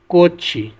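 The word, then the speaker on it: 꽃이: और अगला है कोत ई, प्रोनाउंस होगा कोची।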